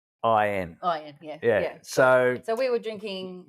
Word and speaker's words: Fakin: out the front said "Faking good wine." Faking good wine. Now we've cleaned that up because that's not how they pronounce it. That's not how they pronounce it. They pronounce it like it's Fukin.